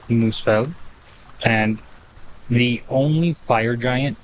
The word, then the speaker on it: Muspelheim: the N Realms uh it's not melheim it is musel and the only fire